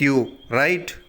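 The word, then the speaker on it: your: அதுக்கு தான் what about யூ. Right, கவனிங்க. உங்களுக்கு பிடித்த உணவு எது? உங்களுக்கு பிடித்த உணவு எதுன்னு எப்படி இங்கிலீஷில் கேட்பீங்க? What's யோர் favourite food? What's யோர் favourite food? யுவர்ன்ற சொல்லிட சரியான உச்சரிப்பு யோன்னு சொல்லணும். What's யோர் favourite food?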